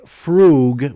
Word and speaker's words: fugue: The fugue, pronounced fugue with a double O sound.